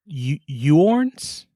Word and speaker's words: Huorn: It's Huorn. Yeah, like horns. Horn. Yeah, what you said. There's a U and an O in that word. And I'm not sure which to pronounce. I think it's Huorn.